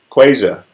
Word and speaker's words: Quasia: Quasia. There it is. Because it makes sense. It sounds like it looks. But, you know, I'm not Haitian.